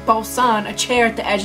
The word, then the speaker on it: boatswain: They try to trip you up with a silent letter in there. Do you know anything about etymology? Etymology? What? Bosun.